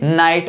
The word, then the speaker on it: night: जैसे नाइट, NIGHT, इसमें GH है वो साइलेंट रहता है, इसे हम नाइट ही पढ़ते हैं।